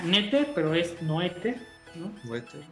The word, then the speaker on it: Noether: Entonces, ciertamente cuando existe una matemática que se llama Emily, bueno, se pronuncia Noether, pero es Noether, ¿no?